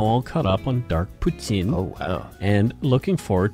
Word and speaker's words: poutine: day, I'm now all caught up on Dark Poutine. Oh, wow. And looking forward to new episodes. See how I'm pronouncing it correctly?